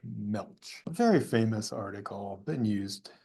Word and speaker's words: Gmelch: baseball Magic by George I don't think that g is pronounced I'm just going to say George MCH very famous article been